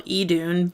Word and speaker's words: Idun: It's just the same. It's still Edun.